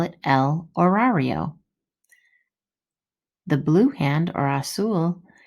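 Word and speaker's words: horario: those two words el horrario and el minotero remember the h is silent well as we go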